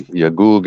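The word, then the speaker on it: يأجوج: Just like in Arabic, we have Yajuj and Majuj. There is no G sound in Arabic. So they say J, but it actually should be Yagug and Magug, because this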